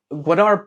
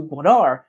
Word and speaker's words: Gwadar: Gwadar port. Uh note that McGregor struggles with the pronunciation in the video.